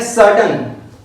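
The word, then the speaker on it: certain: Next है सर्टन, सर्टन, okay सर्टन। तो are silent रहेगा क्योंकि इसके बाद कॉन्सोनेंट है सब।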